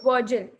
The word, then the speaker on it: Virgil: I don't know how to pronounce this poet's name. It's okay, Virgil.